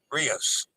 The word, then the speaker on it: Rios: you can't see them Rios rhymes with dose ribos of Joe Rios